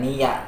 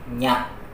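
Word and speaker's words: ニャ: Dibacanya ni tambah ya, bukan niya tapi nya. Nya, nyu, nyo.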